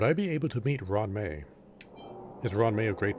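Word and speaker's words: Ruan Mei: I've been saying Ruin May, or Ruan May. She's not pronouncing the U.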